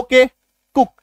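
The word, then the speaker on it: cook: सब आ जाता है तो डबल ओ का उच्चारण क्या हो जाता है छोटी उकार की मात्रा आई बात समय में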